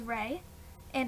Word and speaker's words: Reya: So her name's Rey, and it's R-E-Y-A, but, well, Reya. And we just decided to make it two syllables, and first we were